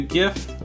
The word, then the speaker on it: GIF: excel is actually really easy and yes it's pronounced gift not jiff because it's graphics interchange format sending a gif